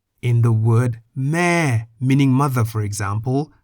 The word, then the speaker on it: แม่: In the word meh, meaning mother, for example, the vowel eh is written before the initial consonant, but the initial consonant